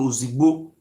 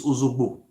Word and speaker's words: Ozogbo: The second son is called Ozogbo, which is a corner called Ozigbo. The real pronunciation is Ozogbo.